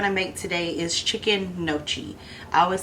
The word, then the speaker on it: gnocchi: the G is not you don't pronounce the G tie so we're going to make some chicken noi soup so the ingredients